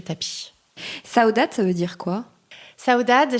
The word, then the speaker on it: Saudade: saudad c'est à saudad on dit pard alors avec le petit accent portugais effectivement qui n'est pas parfait non plus mais ouais on prononce saudad comment est né saudat